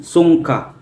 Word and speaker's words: Sungka: Songka, pronounced Songka, is a traditional Filipino game where two players compete to capture the majority of shells.